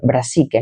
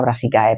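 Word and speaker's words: brassicae: Eh, se pronuncia, si termina en ae se pronuncia e, ¿vale? Brasique, no brasique ae, pero yo siempre voy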